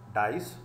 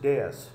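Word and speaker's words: dais: तो जैसे ही वो डेयस पे गए, okay and यस one correction here, this word please it इज मिसप्रनाउंस्ड, generally मिसप्रनाउंस्ड एज डाइस, this इज नॉट डाइस, this इज डेयस।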